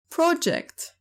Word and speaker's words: project: Project. Project تعني مشروع، وإن كانت فاعل فهي تلفظ project، وقد تعني يتصور ويخطط ويقدر، وقد تعني يسقط.